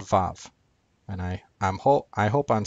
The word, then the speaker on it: vav: Wow, if I'm saying that correctly, is the Hebrew letter that in ancient Hebrew made a W sound instead of in modern Hebrew, which makes a V sound because it's pronounced vav instead of wow.